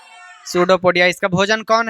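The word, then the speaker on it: pseudopodia: पोडिया ठीक है ना पी एस ई यू डी पी ओ पी ओ डी आई ए हां पी साइलेंट है सूडो पडिया पी चुपचाप है अब देखो इसका भोजन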